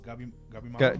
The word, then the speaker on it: Gabimaru: Oh, Gabimaru.